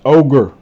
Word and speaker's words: augur: This is pronounced ogre.